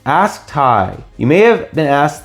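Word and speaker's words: Tighe: my name's ty well my name actually is tai but it's spelt different the correct spelling of my name is t-i-g-h-e it's irish it's my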